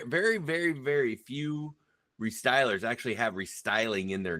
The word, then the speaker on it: Restylers: We say restylers. They don't. It's like, in fact, if you Google it, it takes you to SEMA's website. For years, we c we got called wrestlers.